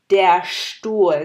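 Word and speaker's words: Stuhl: যেমন এখানে আমাদের এক্সাম্পল আছে দ্য চেয়ার বা জার্মানি যেটাকে বলে ডেয়ার স্টুল, আমরা কিন্তু বলি নাই ডেয়ার স্টুল, আমরা বলেছি ডেয়ার স্টুল। তার মানে একটু ভারী, একটু ভার করে এস টিটা জার্মান ল্যাঙ্গুয়েজে প্রোনাউন্স করতে হয়। এরপরের এক্সাম্পলটা হচ্ছে আসলে এস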